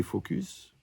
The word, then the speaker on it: focus: parce que tu es focus, il faut bien prononcer le S, sur le côté lourd.